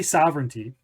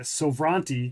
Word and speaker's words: Sovranti: because I'm really curious so we say sovereignty yes but when I first saw it I was calling it Sobrante because that's kind of how it looks so for those that